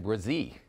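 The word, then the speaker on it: Bresee: you going with uh I'm going with Brian brazee all right how's my pronunciation fantastic job first round pick on names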